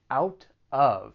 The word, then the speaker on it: out of: to pronunciation out of so that t again it comes between two vowel sounds so i'll pronounce it as a flap t and then i will link it with the vowel sound in of out of out of